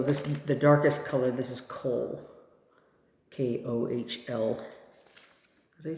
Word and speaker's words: Kohl: So the darkest color, this is Kohl. K-O-H-L. Did I spell it?